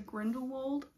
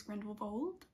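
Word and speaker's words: Grindelwald: my boyfriend went to grindle Wal that's not how you pronounce it I think it's grindle Bal um sorry if anyone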